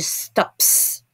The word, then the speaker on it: stops: Remember to pronounce the S. She stops.